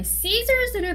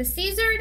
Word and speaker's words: scissors: 그 다음에 scissors를 많이 헷갈려 하시는데 scissors 아니고 scissors입니다.